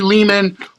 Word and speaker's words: Lehman: Ari Lehman rhymes with demon, and I'm very happy to be unmasked.